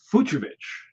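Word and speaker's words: Fucsovics: with Jason all right it's futurevich so you don't need to CK in there we'll give it to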